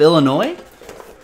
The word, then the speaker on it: Illinois: Some people pronounce the S on the end of Illinois.